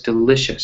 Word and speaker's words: delicious: But for delicious, it was delicious. So the L, that has that stress, right?